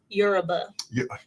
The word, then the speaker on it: Yoruba: Did I say that right this time? Yuruba. Yuruba. You gota get the syllable in the right place. The accent more. Yuruba.